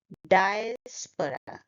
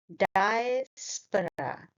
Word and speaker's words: diaspora: The first sound is die, not dia.